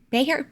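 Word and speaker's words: Bexar: on his record in Bayer Bayer the ex is silent right beer b x a r beer County I don't ever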